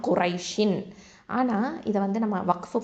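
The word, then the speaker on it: قريش: அடுத்தது காஃப் தும்மா கூ, இது வந்து ஹெவி லெட்டர் தஃப்ஹீமாக உச்சரிக்கணும். ரா ஃபதா யா சுக்கூன் ரை, இது வந்து யாவுல் லீன் குரை. அடுத்தது ஷீனில் கெசரத்தைன் இருக்குது, ஷின் அப்படின்னு இருக்கும் இல்லையா, குரை ஷின்.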